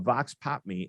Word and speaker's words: Vox Pop Me: is the ceo of vox pop me and i learned that that is uh actually the or the pronunciation is vox pop me but the definition is